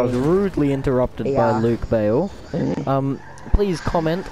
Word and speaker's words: Bale: Yeah, and if you want to find me on social media, it's Luke, and then B-A-L-E, Bale. Hey, Bale, Bale, B-A-L-E. Sure it is. That's not how it's spelled, everybody.